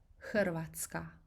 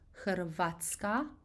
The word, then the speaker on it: Hrvatska: I know it's easier to pronounce Hrvatska, putting the emphasis on A, but the way we pronounce this is actually putting the emphasis on that strong rolling R, R, R.